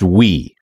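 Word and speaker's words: Ooui: I did look up the Wii web framework from Frank Krueger, and it is pronounced Wii.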